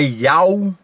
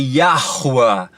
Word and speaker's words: Yahuwah: Não é Yau. Yau, inclusive, é uma falsa divindade, tá? Pagã. Yau, que Yau, cara? No hebraico é Yahuwah. Yahuwah, a pronúncia. Escreve-se Yahu. Só que a pronúncia é Yahuwah.